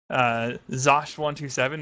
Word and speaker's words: Zosh127: Zosh127 with a silent Z. So it's not. You still mispronounce the silent Z. It's not silent, it's pronounced like a J.